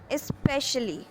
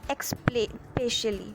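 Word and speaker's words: especially: Okay, now moving on टू our next word for today is which is स्पेशली, ना कि एक्सपेशली।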